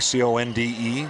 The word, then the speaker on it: Conde: half-court three-quarter court press believe it's pronounced Conde Co n de so I'm going to say Conde and they're looking to double